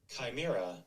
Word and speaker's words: Chimera: Chimera. Oh, we're both wrong. Chimera, like Crimea.